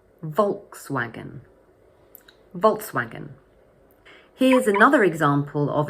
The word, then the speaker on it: Volkswagen: But in English, we say Volkswagen. So the word has 3 syllables and the first one is stressed. Volkswagen, Volkswagen, Volkswagen.